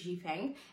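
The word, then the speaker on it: Xifeng: I should have checked how to pronounce this. My bad. I think it's Ji Feng.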